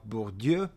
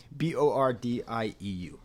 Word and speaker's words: Bourdieu: Distinction by Pierre Bourdieu. Maybe you've seen it pronounced Bourdieu or Bourdieu, Bordieu.